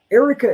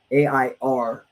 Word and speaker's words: Erica: Erica is spelled like air, Airica. Find her.